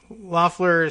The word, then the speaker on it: Loeffler: Raphael Warnock was one of a slate then of candidates opposing incumbent and Atlanta Dream owner Kelly Loeffler, whose name is pronounced Loeffler.